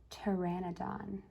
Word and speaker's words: pteranodon: in blocks it says pteranodon the p is silent does the dinosaur stomp